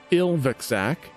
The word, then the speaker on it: Ilvaxak: You were taken to the house of a massive pit fiend, Ilvaxak, which is spelt I-L-V-A-X-A-K.